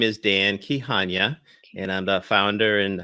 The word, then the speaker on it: Kihanya: having me on Celeste my name is Dan key Hanyu and I'm the founder and host of founders